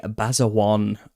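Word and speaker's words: Basajaun: So, we're going through and I've just been doing uh the basawan of the Basque. I think that's how it's pronounced.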